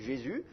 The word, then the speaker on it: Jésus: ça fait jésus ce et puis d'ailleurs on prononce mais plus le s final on dit jésus vous met donc en fait jésus c'est pas